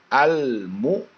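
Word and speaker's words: المؤمنين: huruf dari Qomariyah jadi al-mukminin ah al-mukminin a dan ketentuan membacanya Bagaimana lam mati dibaca jelas lemnya al al al al ada relnya disitu huruf l nya huruf lam nya dibacanya jelas tapi ingat hai ketika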